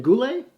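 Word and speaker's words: Guhle: um then there's a brendan goulet kind of rhymes with boublier a little bit anyway um he's ranked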